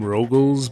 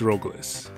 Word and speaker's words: Rogles: Also, I know it spells his name Loglis here, but I've been calling him Roglis just because that's how they spell it in most of the English Valis games. And I definitely understand calling him Rogles, by the way, but it's Roglis.